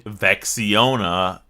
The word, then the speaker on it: Vexiona: Vexiona. Now, hear me out here. Rhymes with Sexiona.